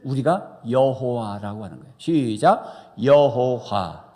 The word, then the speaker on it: 여호와: 여호와. 정확하게는 야훼예요. 히브리 발음에는 야훼인데 우리가 한글로 여호와 한 거예요.